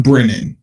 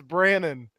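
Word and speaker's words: Brannen: tell everyone that john brennan is going to be put on administrative leave you didn't even pronounce his name right it's brannon brannon see that's why you're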